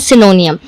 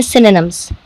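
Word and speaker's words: synonyms: हुई दिख रही है, जैसे कि सिनोनियम, जो कि एक बहुत गलत वर्ड है, हम प्रोनाउंस करते हैं सिनोनियम। आप इसे लिखा हुआ शायद सिनोनियम पढ़ें या जो भी पढ़ें, जब आप इसे सुनेंगे इसकी करेक्ट प्रोनाउंसिएशन है सिनोनिम्स।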